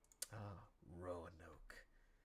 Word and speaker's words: Roanoke: You actually do pronounce the A. Roanoke.